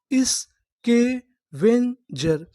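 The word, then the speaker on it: scavenger: इस के when ji ई आर। इसे पढ़ेंगे हम लोग जर। क्योंकि मैं आपको बता दूं कि जो हमारा इ आर होता है, इ आर को हम लोग इंग्लिश में पढ़ते हैं अर। क्या पढ़ते हैं? अर। तो हमारी इतनी मीनिंग क्या बनी? स्केवेंजर स्कवेंजर स्केवेंजर स्कवेंजर का मतलब होता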